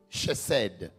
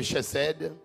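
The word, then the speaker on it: חסד: Le mot miséricorde vient de l'hébreu chesed. Chesed. Donc C-H-E-C-E-D. Ce n'est pas des mots en français, hein? Donc je les prononce comme je le vois là.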